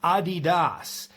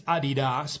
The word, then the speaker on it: Adidas: of bar trivia for you actually Adidas is pronounced Adidas that's the correct pronunciation I've never heard anybody use Adidas but that is the correct pronunciation so there's